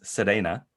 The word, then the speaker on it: Selena: Japanese you would pronounce Serena. So that R and L thing, she writes it in, when she romanizes her name, she writes it Selena. So Selena, but it sounds more like Serena.